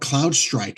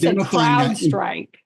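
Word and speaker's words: CrowdStrike: will fit fill in the gaps of what Cloud Strike has. And so rather rather than cloud strike crowd strike.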